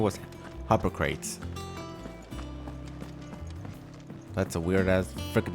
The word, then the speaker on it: Harpocrates: Yeah, Harpocrates.